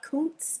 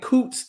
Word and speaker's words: Kountze: I am from a small country town outside of Beaumont called Coots, Texas. Really? Yes. Okay. Texas girl, yes. Okay. Now, what was it like growing up in Coots, Texas?